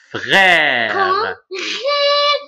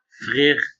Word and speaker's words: frère: grave alors comment alors écoute comment ça se prononce frère très bien on dit pas frire on dit frère alors f r e